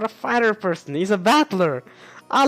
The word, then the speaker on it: Battler: this the problem is my own name is made up of the characteristic fighting person and it's pronounced battler but it all put